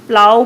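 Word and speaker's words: plough: SUV, पहले तो ये प्लो पढ़ता है बच्चे से, प्लो से बढ़िया प्रोनाउंसिएशन प्लाव कहा जाता है, प्लाव।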